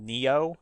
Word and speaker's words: Nioh: No, this actually looks like it's called Neo and it's spelled Nioh.